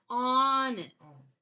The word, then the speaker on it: honest: Honest. Okay. The H is silent, but we have to remember that's why it's the heart part when we have honest.